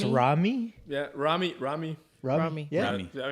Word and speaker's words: Rommii: Row, It's row, spelled like, with a no. like, Yeah. Rowing a Row, boat.